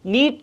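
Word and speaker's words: knead: दोनों की सेम है नीट नीट और जो यह वाला पहला वर्ड है इसमें क्या होता है के साइलेंट होता है ठीक है तो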